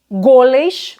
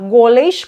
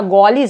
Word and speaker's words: goles: Só que algumas gramáticas citam goles, o timbre é fechado, e gois, timbre fechado também, tá? Então, tanto faz você falar goles, cuidado, não abram o timbre, senão fica goles, é outra coisa.